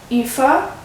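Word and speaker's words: Aoife: book of Joey and epha that's how you pronounce her name pretty much and um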